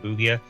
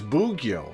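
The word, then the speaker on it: 奉行: the plant pot and correct your pronunciation of Bugio. Oh, it's Bugyo. Ah, I gotcha. Probably, given the way most Japanese syllables end with an open vowel, except for ending in N.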